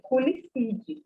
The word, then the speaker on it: Culicidae: Por exemplo, a família, se escreve Culicidae, mas se lê Culicide. A gente não pronuncia o A nesse caso.